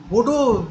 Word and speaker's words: Godot: সেরকম নয় তার ফলে সেই মিনিংটাও আসছে না গড অফ ট্রি তো হচ্ছেই না উচ্চারণটা হয়ে যাচ্ছে গোডো এরকম ধরনের তাহলে এরকম